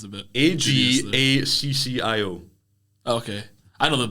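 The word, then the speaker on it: Ajaccio: It's Toulon to Monaco B to Agasio to Monaco. Agasio? What the fuck's that? It's a French team. I feel like the pronunciation's a bit... Agaccio.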